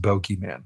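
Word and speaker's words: bogeyman: It's supposed to be pronounced bogey man.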